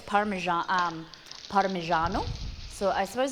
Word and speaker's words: Parmigiano: it parmesan is it wait how do you pronounce it molly we say parmesan but like in italian it's parmesan parmigiano so i suppose it's closer to you're saying